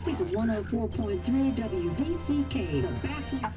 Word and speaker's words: Basswood: So it's pronounced Basswood.